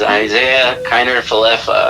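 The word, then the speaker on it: Isaiah Kiner-Falefa: We were just figuring out how to pronounce his name when we traded him away. So his name is Isaiah Kiner Falefa.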